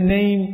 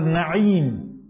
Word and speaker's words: Na'im: But if you keep your child's name Na'im, which means fortunate, in this country they'll pronounce it Name. They don't say Na'im, they say Name.